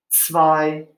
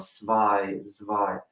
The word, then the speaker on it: spy: lot but it's a it's a common mistake for americans or english speakers to say say it like a z sound or a s sound spy so you really got to get that s slide scene when you're saying those words all right let's move